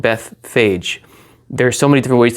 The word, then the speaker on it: Bethphage: There's so many different ways to pronounce that, but there's two Hebrew words. There's a Beth and a Peg. So the Bethphage, or however you want to pronounce it, or Peg, like that's another way to pronounce it.